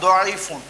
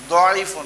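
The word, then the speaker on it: ضيف: My dear students, you have to pronounce this one Doifun. Doifun.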